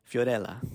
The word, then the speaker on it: Fiorella: It's Italian. No one can say her name right. They call her Fifi or Fio. It's Fiorella. Say it like a little Italian or something.